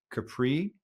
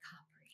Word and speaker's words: Capri: They say Capri. Capri. Yeah. If you ever heard of Capri Pants or Capri Sun, named after this island, but if you're in Italy, you you'll want to pronounce it Capri.